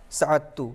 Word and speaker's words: سعدتو: اس کو لکھا جائے گا سعدتو اور پڑھا جائے گا سعدتو، یعنی دال کا تلفظ نہیں کریں گے.